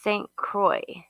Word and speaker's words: St. Croix: It's pronounced St. Croix.